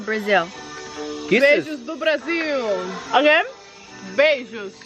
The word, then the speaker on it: beijo: Beijos Beijos.